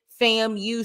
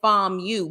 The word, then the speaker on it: FAMU: FAMU or something where she clearly didn't know how to pronounce it how we would pronounce it fam you she said f you but she was very